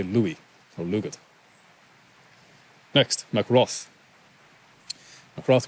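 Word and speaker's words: Lugaid: Louis or Lugi or lugit that g can be silent or it can be a soft G so I would just say Louis or lugit next macroth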